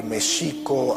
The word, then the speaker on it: México: tenochtitlan les comentaba que méxico así es como se pronunciaba en el méxico prehispánico la equis no se pronunciaba ni o nicks sino el acento estaba en la segunda sílaba méxico-tenochtitlan no tenochtitlán veces la pronunciación prehispánica que